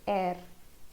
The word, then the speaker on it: er: He in German is er. It's not it's er. Somewhere close to this word, er. Or how do we say er in German? Er.